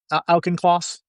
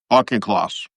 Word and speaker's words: Auchincloss: Alkenkloss, remember, how do I pronounce his last name correctly? Alkenkloss? Auchincloss. Alkenkloss.